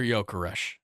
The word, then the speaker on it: Gyökeres: Just Victor Gyökeres. That's how you say it, correct? That's what we decided? Yeah. Okay. Gyökeres, Victor Gyökeres is the best scorer in Europe right now in the last...